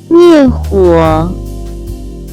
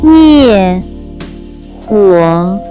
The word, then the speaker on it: 灭火: Next we have put out a fire, which in Chinese can be pronounced as 灭火，灭火，灭火。 Let's practice it again one more time. 灭火。 Let's explain it in detail. It has two characters. 灭火。